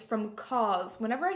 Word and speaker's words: COS: It's from COS. Whenever I say that, people are like, what store do you mean? It's spelled C-O-S, and it's also part of H&M.